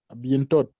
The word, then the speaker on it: à bientôt: À bientôt. À bien. Are you pronouncing letter T at the end?